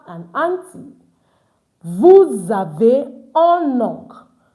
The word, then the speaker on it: oncle: Vous avez un oncle. So it's not uncle, it's oncle. The L is not pronounced.